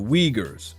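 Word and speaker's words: Uyghurs: They got a they got a set called the Weaguers. It begin with a U, but they they pronounce as weaguers.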